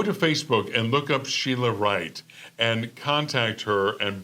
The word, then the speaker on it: Shiela: her name I mean you pronounce her name Sheila right but her the spelling is s h i e l a which spells Ralph I